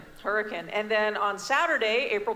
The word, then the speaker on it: Hurricane: No, that is Hurricane, not Hurricane. Say it right. Hurricane.